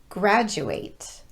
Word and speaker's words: graduate: video but there are a number of words where the letter d will be pronounced as j and some of them